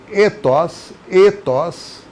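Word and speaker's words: ἦθος: E se eu pronuncio ethos significa maneira de ser.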